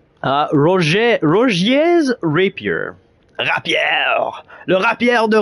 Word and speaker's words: Rogier: The same way it's pronounced in English, I guess. I want to meet a YouTuber that calls him Roger.